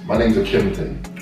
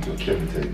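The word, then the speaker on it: Okiemute: So basically, my name's Okemite. Okay, yeah, cool. That's my name, like my government name, Okemite. Yeah. And it's spelled as in O-K-I-E, Oki, Mute, yeah. M-U-T-E.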